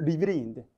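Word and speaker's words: riveting: 발음이 리비링인데, 리벳이 못이고 흥미로운. A Few Good Men.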